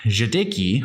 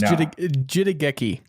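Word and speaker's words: jidaigeki: Quote, in brief, Jidiki, which is a period drama. Did I pronounce it right? Jidiki? I think it's Jidageki. Jidageki. Wow. It's Japanese, yeah.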